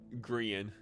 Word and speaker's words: Grian: Grian is how you say that one.